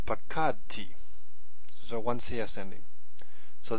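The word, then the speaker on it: פקדתי: And our stress stays here. So just like this one here. Pakadti.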